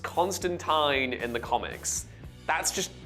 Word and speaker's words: Constantine: Just to be clear, the movie is called Constantine, but it's pronounced Constantine in the comics.